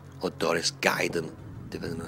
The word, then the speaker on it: Darius Gaiden: This is Darius Gaiden, or Darius Gaiden, depending on how you want to pronounce it. Actually, come to think of it, the correct pronunciation would be Darius Gaiden.